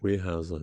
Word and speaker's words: Weyerhaeuser: Weyerhaeuser, yeah.